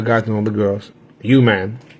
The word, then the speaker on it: UMAN: You man, it's pronounced you, man.